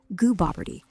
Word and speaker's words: Gooboberti: Should be Gooboberti, with goo as in double O, Oh, that was not perfect.